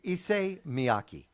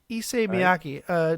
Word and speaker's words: Issei Miyake: Issei Miyake. Issei Miyake.